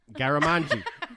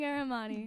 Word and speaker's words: Garamani: how do you say your name? Garamani. Garamani. Fuck, man. That took like 9 tries. Armani with a Gare.